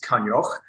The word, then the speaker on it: Coinneach: about me as I said my name is kanyech um I know for many of you and